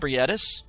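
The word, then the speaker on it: Ebrietas: more than abitus or Abus sorry because um so I actually was was corrected on that where it's pronounced etis from one of the commenters in the comment section how do you do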